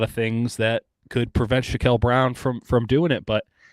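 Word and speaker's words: Shakel Brown: on no okay uh Shake Brown Shack brown shael shael brown would be the correct way to pronounce it I should have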